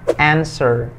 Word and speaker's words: answer: Yang satu ini sering juga salah baca, jadi dibacanya answer.